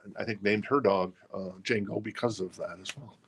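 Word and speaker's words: Django: think named her dog Jango because of that as well or maybe it's from D Jango on chain because the D is silent Penny Lane oh maybe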